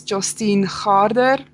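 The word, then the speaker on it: Jostein Gaarder: how you pronunciated it it's pronounced as Justine harder he wrote sop's world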